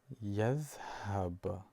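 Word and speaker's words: يذهب: As you see, the letter Ya here is pronounced very light, and the short vowel A helps in terms how to pronounce it. So you would say Ya, Ya, and Tha, Yadh, and H, Yadh, Yadhhab.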